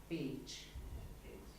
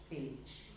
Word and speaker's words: Pécs: CS in Hungarian, interestingly enough, can be one letter. And it's pronounced like in beach. So it's pronounced Pécs.